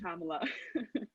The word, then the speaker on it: Kamala: But I'm just saying, it's pronounced Kamala.